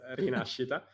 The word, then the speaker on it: Rinascita: Is Rinascita? Kind of, it's Rinascita.